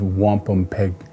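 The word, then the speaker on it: wampumpeag: The true Algonquin pronunciation is wampum peg.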